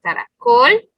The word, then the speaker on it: caracol: Por ejemplo, la palabra caracol. Entonces escuchamos claramente que aquí en la última sílaba está la sílaba tónica, pero esta palabra, si se dan cuenta, no se acentúa, perdón.